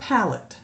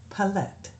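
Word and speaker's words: palette: my favorite eyeshadow is a pette it's not pallette pallette is what it is I just have to correct people people in this pallette p a l e tte is pronounced pallette not pallet a pallet that's p a l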